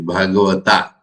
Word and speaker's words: Bhagavata: Now, in South India, A means A. So they like to pronounce very emphatically Bhagavata, Ramakrishna, Adhyatma Ramayana.